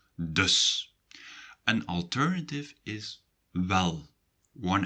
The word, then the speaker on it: dus: In Dutch, you say so by using the word dus. A bit like thus, but with a D. So, dus.